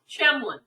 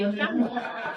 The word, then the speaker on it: Tjelmeland: Tjelmeland. So the T is silent. So you just say Tjelmeland.